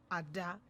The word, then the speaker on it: Ada: So the thing is, in Nigeria, right, as an Igbo girl, that name is pronounced Ada.